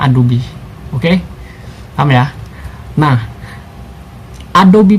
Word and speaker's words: Adobe: Tulisannya Adobe, tapi dibacanya Adobe.